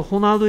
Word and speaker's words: Ronaldo: 그래서 이 R은 동네에 따라서 스페인어에서는 H 같은 발음을 냅니다. 됐습니까? 오케이. 그래서 호날두 is a soccer player.